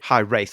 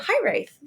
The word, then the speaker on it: Hiraeth: Yeah, it's actually a Welsh word.